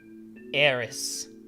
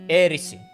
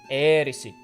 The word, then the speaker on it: Aerith: of her name, because the correct way to pronounce the kanji, which spell Aerith, would be Erisi. Erisi. It's meant to sound like Earth, because she has a special connection to the Earth.